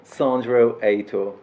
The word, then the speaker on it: Sandro Heitor: Can I pronounce it? Or eight? Perfect. So, thank you. Say your name again. Sandro Heitor.